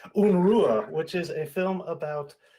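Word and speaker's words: Unrueh: new film called unrest or un Rua do I have that pronunciation right yeah that's right that's right close enough unua which is a film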